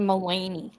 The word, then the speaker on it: Mulaney: Oh, you pronounce that name Mulaney. That's an Irish name.